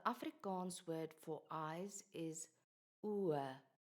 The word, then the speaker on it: oë: The word is spelled with just an O followed by an E, but the E has two dots above it. These dots tell us to pronounce the O and the E separately.